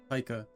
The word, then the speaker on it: Taika: Taika.